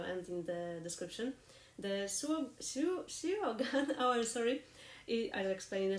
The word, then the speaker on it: Suo Gân: Welsh harpist, hello, and she told me that actually the U in the Suo Gân should be pronounced in this word as I, not you. And that's something that I'm definitely not used to, so it should be something like Suo Gân.